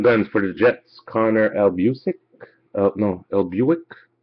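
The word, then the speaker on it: Hellebuyck: Young Guns for the Jets, Connor Elbuick. Elbuick. Ellebuck.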